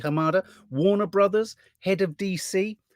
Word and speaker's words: Hamada: Walter Hamada, pronounce his name correctly, Hamada, Warner Brothers, head of DC.